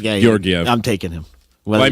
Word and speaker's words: Georgiev: Gorgiev. Georgiev. Yeah, Georgiev.